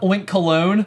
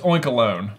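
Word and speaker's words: Oinkologne: me that again so it's not oink cologne it's oink alone link alone I I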